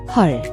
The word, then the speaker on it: 헐: Watch your pronunciation, the vowel is a deep ah sound, not o or a. Think of the o in love but deeper, or ah in raw.